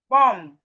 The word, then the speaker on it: bomb: So as we can see, whenever we see M and B in a word, the B is silent.